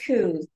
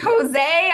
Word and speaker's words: Coos: It's Coos. Coos, Sandra Coos. Okay, I said Cozé. I'm like thinking, I don't know, like Frenchish.